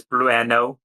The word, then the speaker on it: Blueno: As Blueno. It's Blueno. The E is silent.